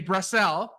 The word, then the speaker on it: Brassell: PHD you told me how to pronounce it brassel he's a dynamic speaker trainer and author of